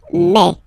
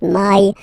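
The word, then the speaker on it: mai: then you pronounce it meh okay so don't pronounce don't try to pronounce it no it's me so it's not my it's me okay and then here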